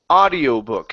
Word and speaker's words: audiobook: Instead of audio, it's ah. The AU, okay, is an ah sound instead of ow. Audiobook. Audiobook. I'm sorry. Almost. So instead of ow, okay, we don't need to pronounce the oo. The oo is silent. Okay, so instead of ow, it's only ah.